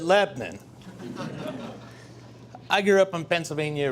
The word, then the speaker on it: Lebanon: I grew up in Lebnin, Pennsylvania. You might pronounce that Lebanon. But those of us who grew up in the Pennsylvania Dutch country, we pronounce it Lebnin.